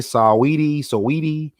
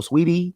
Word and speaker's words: Saweetie: That's how you say her name, Saweetie, or Sweetie.